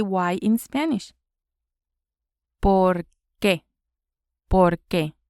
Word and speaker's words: por qué: ¿Por qué? ¿Por qué? 2 words and the accent on the E.